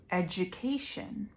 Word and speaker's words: education: duck or adult but in these words specifically it's a j sound let's try saying the words all together I can say it first and you can repeat after me education graduation gradual schedule module